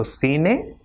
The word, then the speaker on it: cine: Same way, CERRAR will be pronounced as cerrar, and with I it will also be pronounced with the same sound. For example, CI will be C. So cine, ciclo, or cocina.